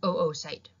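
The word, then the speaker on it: oocyte: excel or the ovary this is pronounced oo so this word here is an oo site helping out just refers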